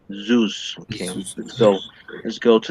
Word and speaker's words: Zeus: yeah that's right because you have to emphasize this letter is z zeus okay so let's go